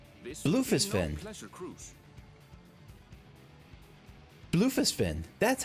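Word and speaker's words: Bloefhiswyn: Bluefisfin. That's how you pronounce that.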